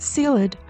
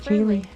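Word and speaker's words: ceilidh: Harry and I spent days calling it sealed until I finally looked it up and discovered it's actually pronounced clearly.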